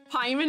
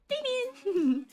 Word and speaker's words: Pikmin: Pieman instead of Pikmin? Pikmin!